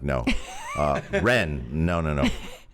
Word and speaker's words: Yuan: time uh it's it's yuan in the business but the correct pronunciation is ren but the thing is people can't pronounce that yr combination break out some mandarin